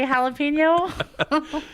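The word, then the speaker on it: jalapeño: Whatever your preference is, however you want to say jalapeno. No, Ricky. Jalapeno. Ricky, it's pronounced jalapeno.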